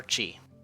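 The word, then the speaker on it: ち: for the next character this is Qi or Chi it's this consonant followed by a vowel and makes up a single syllable you pronounce it SS chief this the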